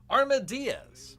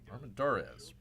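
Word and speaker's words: Armendáriz: played by Pedro uh how do you pronounce this armadas armadas Armand dores pardon me Armand dores a famous Mexican actor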